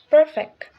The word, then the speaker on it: perfect: Perfect. Here, the first syllable per is stressed, giving us perfect, not perfect.